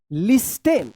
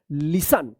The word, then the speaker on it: listen: लिस्टेन। क्या पढ़ते होंगे? लिस्टेन पढ़ते होंगे, LISTEN, लिस्टेन, ठीक है। लेकिन इसका सही उच्चारण होगा लिसन। क्या होगा? लिसन, क्योंकि यहाँ पे टी जो है ना साइलेंट रहता है।